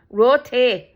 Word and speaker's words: roti: repaid me with uh bread rooty roty that's how they say it roty and it's like you